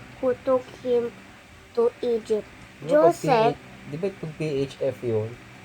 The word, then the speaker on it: Joseph: Joseph. Di ba pag PHF yun? Joseph. Ay, naku. Joseph. Mali yun. I always call it Joseph. Hindi. Dapat Joseph. Pag PH, di ba? F yung pronunciation.